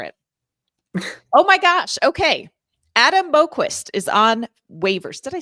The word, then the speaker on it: Boqvist: Adam Boqvist is on waivers.